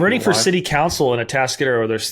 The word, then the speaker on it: Atascadero: And can you pronounce the place that you're from? Atascadero, which means like a mud hole, stuck in the mud.